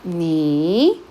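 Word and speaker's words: 你: Este entonces nuevamente se pronuncia ni, es tercer tono.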